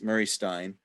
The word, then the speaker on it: Murray Stein: Do you pronounce that way? Yes, Murray Stein.